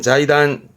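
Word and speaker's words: 財団: 발음은 자이단.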